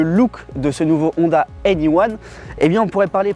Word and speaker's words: e:Ny1: présenter le tout nouveau Honda in I One a prononcé anyone en France le deuxième modèle électrique